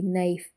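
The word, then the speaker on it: knife: ಆಗಿ ಹೆಚ್ ಸೈಲೆಂಟ್ ಆಗಿದೆ ಕೆಸೈಲೆ ಆಗಿರುವಂತ ಪದಗಳು ಕೆಎನ್ ಓಸಿ ಕೆ ನಾಕ್ ಕೆಎನ್ ಐಎಫ್ ಇ ನೈಫ್ ಕೆಎನ್ ಓಟಿ ನಾಟ್ ನಾಕ್ ಅಂದ್ರೆ ಬಡಿ ಅಥವಾ ತಟ್ಟುವುದು ನೈಫ್ ಅಂದ್ರೆ ಚಾಕು ನಾಟ್ ಅಂದ್ರೆ ಗಂಟು ಇವಿಷ್ಟರಲ್ಲೂ ಕಾಮನ್ ಆಗಿ ಕೆ ಸೈಲೆಂಟ್ ಆಗಿದೆ ಎಲ್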